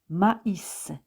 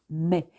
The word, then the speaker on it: maïs: Par exemple, M-A-I tréma S se prononce maïs. Il ne se prononce pas mais.